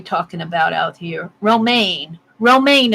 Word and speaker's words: Romaine: Romaine is how you pronounce it.